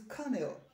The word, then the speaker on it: colonel: it is comfortable then this one is now colonel it is carnell my father is a